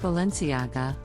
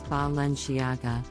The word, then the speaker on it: Balenciaga: jackets lastly we have Balenciaga a luxury fashion brand based in Spain this name is often mispronounced as valenciaga but the correct pronunciation is Valencia AGA the brand is